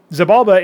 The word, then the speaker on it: Xibalba: And yes, it's deliberately pronounced that way. Xibalba is a setting where you've got all these different regencies, which are our stand-in term for races.